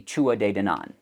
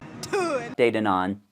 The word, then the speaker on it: Tuatha Dé Danann: uh in Irish mythology they're often called the Chua de denan and it's it's spelled like this Irish gay spells words really weird so the two day Den on or just two a day for short if if